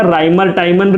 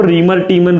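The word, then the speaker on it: Reimer–Tiemann: Reaction और एक होगा राइमर टाइमन रिएक्शन, और कोई कोई इसको रीमर टीमन रिएक्शन भी बोलता है।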